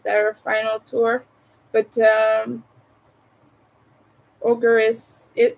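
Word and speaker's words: Ohgr: to see in my life uh which was ogre it's spelled o HG R and this is the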